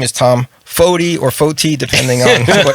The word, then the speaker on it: Foti: My album, Tom produced, and my name is Tom Foti or Foti, depending on what mood you're in. It is not and never will be Foti. Oh, I don't get a special card. Foti.